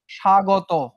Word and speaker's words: স্বাগত: স্বাগত, স্বাগত। স্বাগত উচ্চারণের সময় তুমি কি ব কে পেয়েছিলা? না, ব কে পাও নাই। উচ্চারণটা জাস্ট স ছিল। স মানে তালব্য স, সা, গ, তয়কারে তো। এটা হইতেছে উচ্চারণ।